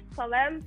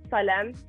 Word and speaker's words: Salem: But on my last watch, I realized there were Salem cigarettes, which they're not produced anymore. How did you even find them? It gets crazy. Which ones? Maybe I'm pronouncing this wrong. It's Salem cigarettes, like the minty.